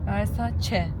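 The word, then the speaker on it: Versace: Versa çe Versa çe diye okunuyormuş. Ben Versaj Versaj deyip duruyordum.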